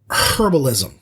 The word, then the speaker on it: herbalism: book uh varnoth learns herbalism that's a hard h he gathers herbs he